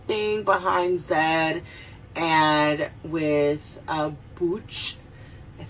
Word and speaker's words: Butch: behind Zed, and with Booch, I say Booch, I don't say Butch, I say Booch, because that's the way that Miss Villalobos had pronounced it in the movie.